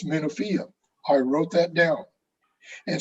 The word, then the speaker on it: Menofia: and he always wants me to correct his pronunciation or his word usage. And that's why we were joking about the word Menofia, because I've been to Menofia, but I always said Menufia.